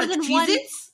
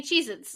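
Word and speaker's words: Cheez-It: of it but it's cheese itss there's more cheit yeah do you want any Chee itss like I have Chee itss it's nobody in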